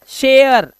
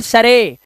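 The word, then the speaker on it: share: स्टेयर शेयर नॉट शरे।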